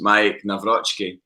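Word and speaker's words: Maik Nawrocki: here is so let's he went on Celtic social media and said hi Celtic fans this is how to pronounce my name it's Mike Nai so like that should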